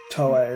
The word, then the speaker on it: Toei: Toei is her, that's how you say it, her name.